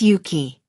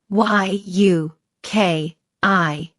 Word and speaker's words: Yuki: My name is Yuki. Y u K I Yuki.